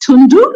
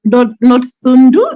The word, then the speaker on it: Dhundu: It's the H is silent. It's Tundu, not Thundu.